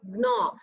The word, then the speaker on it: gnaw: You have to pronounce it like this. Gnaw. G-N-A-W.